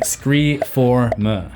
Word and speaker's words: Scre4m: Yes, that is the correct pronunciation based on the spelling, Screeform.